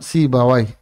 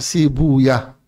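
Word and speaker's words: سيبويه: dikenal dengan nama Imam si Bawai atau para ulama cenderung membacanya sibuyah karena Wai itu nama setan jadi cenderung membacanya Bukan sibawai tapi sibuyah gu Beliau mengatakan kata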